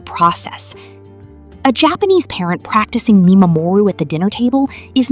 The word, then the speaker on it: mimamoru: This leads us to the second concept, which is called Mimamoru, pronounced Mi-ma-mo-ru.